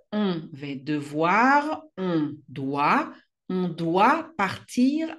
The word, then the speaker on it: doit: ils, elles, on doit, לא מבטאים את ה-T.